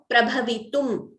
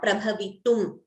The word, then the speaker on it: prabhavitum: Here, prabhavitum, m. This line you see here is a halanta, or it is half a letter. So that shows that that has to be pronounced half. So if there is no halanta, then the letter should be pronounced completely. Now, because there is a halanta, prabhavitum.